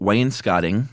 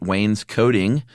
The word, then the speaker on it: wainscoting: We're talking about what I call wainscoting today. Apparently, you can also pronounce it wainscoting. I've always said wainscoting, and evidently either one of them are just fine.